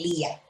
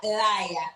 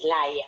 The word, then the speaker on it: Laia: Ah, yo lo leí en español, se pronuncia Laia. Y de Sí, Laia. se escribe Laia, o sea, L-A-I, latina, de puntico, A, y se pronuncia exactamente así, Laia.